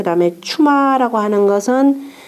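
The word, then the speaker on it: 趣馬: 그 다음에 8장 호분과 철이와 그 다음에 이걸 추마라고 읽습니다. 관직 이름으로 읽을 때는 반드시 추마라고 읽으세요.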